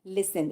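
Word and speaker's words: listen: ये हम लिस लिसन लिखते हैं। लेकिन बोलते क्या है? लिसन। इसमें टी आपका साइलेंट है।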